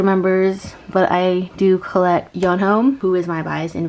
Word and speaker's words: Yeonho: I know that I was saying Yeonho's name wrong. I know it's not pronounced Yoonho like from AET, so I know his name is Yeonho.